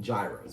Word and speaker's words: gyros: york we call them gyros right so gyros we got new york we call them gyros here they call them euros which is probably right new york are probably saying it wrong but i had not